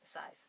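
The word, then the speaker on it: Sadhbh: And fun fact, Sive, if you don't know, if you're not Irish, is actually spelled S-A-D-H-B-H. I'll let that sink in for a second, and yes, it is pronounced Sive.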